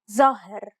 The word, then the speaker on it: ظاهر: The long A in the second example sounds deeper than the first. This is due to the presence of the dark letter impacting on the adjacent vowel.